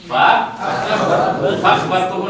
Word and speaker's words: فأخبرته: فأخبرته نہیں کیا؟ بہت سارے لوگ غلط کرتے ہیں اس میں. یہ حمزہ کیا ہے؟ باب افعال کہیں گے فأخبرته. پڑھا جائے گا اس کو. حمزہ کا تلفظ ہوگا نا.